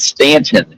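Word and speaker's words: Staunton: They pronounce that Stanton in Virginia, but it's s a u n t o n.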